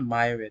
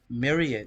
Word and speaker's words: myriad: a married of clothes that's not the way you pronounce it Deja it's not my red it's Marion Myriad yeah myriad yes plentiful